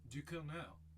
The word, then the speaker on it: Ducournau: Ducournau.